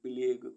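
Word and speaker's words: plague: मीस साथी पी एल ए जी यू ई प्लेग प्लेग मीस प्लेग टी ओ एन जी यू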